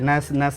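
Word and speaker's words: gnash: जी चाहे पहले हो, चाहे बीच में हो, चाहे कहीं भी हो, जी और एन एक साथ आता है तो जी का प्रोनाउंसिएशन हम नहीं करेंगे। नैस मिस होता है दांत से पीसना।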